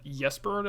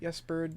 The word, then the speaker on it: Ysbryd: I do think the developers behind the game, the Allison brothers, who like YesBird, I believe is the studio's name. Is it YesBird?